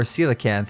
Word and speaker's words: coelacanth: combination of relic and coelacanth or coelacanth if you say it correctly which is the prehistoric